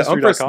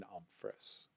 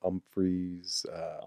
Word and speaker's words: Umfress: I mean, it gets butchered quite a bit, but really? I mean, that's just fun. You know, Umfries, Umfresh. And then people will blatantly just go Humphreys.